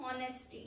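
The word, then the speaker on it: honesty: Read करते हैं हम ऑनेस्टी। यहाँ पे क्या है, इन वर्ड्स दोनों स्पेलिंग्स में एच साइलेंट होता है, इसमें हम अवर रीड करते हैं, इसमें ऑनेस्टी एच साइलेंट होता है।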